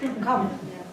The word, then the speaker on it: Không: But there is a word that kind of sounds like hum.